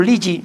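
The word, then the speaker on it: Lilly: El laboratorio Lii, como pronunciamos en España.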